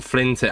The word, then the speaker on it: Flintic: But what's the deal with the name Flintic? Am I saying that right as well or no? Yeah, you're saying it right.